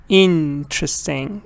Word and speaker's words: interesting: pronouncing these words for example interesting the stress is on the first part when you go like